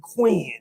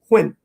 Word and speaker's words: Quinn: if you from here you call me queen even though my name has one syllable quinn oh okay queen we